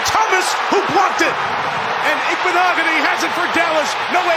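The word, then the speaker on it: Igbinoghene: All right, so you heard Noah Igbenogany. That's how you pronounce his name.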